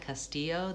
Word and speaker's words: Castillo: You might want to tell people the L's say a Y sound because people will mispronounce it as Castillo, Castillo. So if they have that clue that L's say Y, Castillo, then that might help them remember.